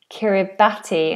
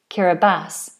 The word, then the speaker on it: Kiribati: Krishna is saying that pronunciation you hear is Kiribati, I've heard, not Kiribati.